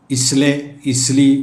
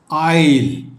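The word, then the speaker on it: isle: lettuce I എസ് എൽ ഇസ്ലെ ഇസ്ലിയെ എന്നൊന്നും വായിക്കരുത് ഇതിൻറെ pronunciation ഈസ് ഐയിൽ ഐ എസ് എൽ ഇ ഈസ് ഐയിൽ മീനിങ് ചെറുദ്ദ്വീപ് ഇതേ അർത്ഥത്തിൽ മറ്റൊരു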